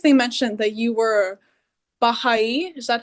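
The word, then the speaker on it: Baháʼí: and I think they mentioned that you were Baha'i. Is that how you say it? Yeah, I'm a Baha'i.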